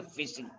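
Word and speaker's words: phishing: iing it is p i s i it's pronunciation is a fishing fishing refers to the act of stealing a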